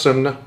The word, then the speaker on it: Synne: It was originally it's pronounced it's pronounced sun, but you pretty much no American is going to intuitively say it that way.